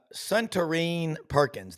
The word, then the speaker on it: Suntarine Perkins: Suntarine Perkins. Did I pronounce Yeah, that correctly?